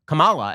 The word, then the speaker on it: Kamala: that if you botch kamala harris's name if you put the emphasis on the wrong syllable this means that you are a racist so if you call her kamala as opposed to kamala this means you're a